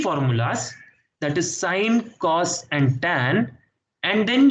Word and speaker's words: sine: Sine theta, sine of theta, short form is sine theta. Sin theta, people say, but it's sine. You pronounce it as sine only.